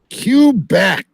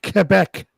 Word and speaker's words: Quebec: from the Quebec border cubec say it right KC watch watching hockey all these years it's called Quebec Jason Scott actually lives